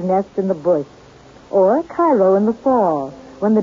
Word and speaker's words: Cairo: soil in and around cairo or cairo giving it the illinois pronunciation resembles that of its